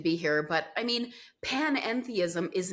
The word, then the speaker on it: panentheism: And I will say, I kind of rolled the pan and the n together, panentheism, but you just pronounced or enunciated panentheism.